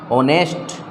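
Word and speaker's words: honest: उसके बाद में है ऑनेस्ट, ऑनेस्ट, ऑनेस्ट, ये भी एक स्वर से उच्चारण हो रहा है प्रथम ध्वनि, तो यहाँ पर भी किसका प्रयोग करेंगे, ए एन का प्रयोग।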